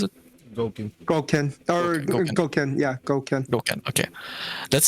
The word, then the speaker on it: Gouken: Let's say you get your triple S Akuma or Evil Ryu, or now Gouken, how you pronounce it? Gouken.